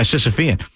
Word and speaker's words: Sisyphean: Sisyphean. Yeah, Sisyphean.